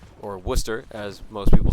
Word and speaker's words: Wooster: barbara high school is gonna be taking on wooster high school or worcester as most people say unless you're uh from from a non-uh ohio area you might say wooster if you've never heard it but worcester is